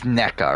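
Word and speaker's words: Nneka: somehow uh naika arneca it is NECA right I keep on saying Nika by like default but I'm pretty sure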